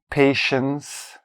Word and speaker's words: patience: And then you have to quickly switch to TS. So patient, patience, patience.